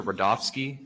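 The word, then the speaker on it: Rudofsky: witness special agent rodofsky that's r-u-d this is ski and it's pronounced Rudolph and then ski but Joe especially to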